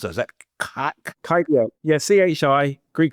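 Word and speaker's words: χ: How do you pronounce that? Is that chi? Yeah, CHI, Greek letter chi, or XDL.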